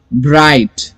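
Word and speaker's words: bright: ब्राइट, B है और R है, ब्राइट, और I आ गया, ब्राइट, और T का प्रोनाउंसिएशन.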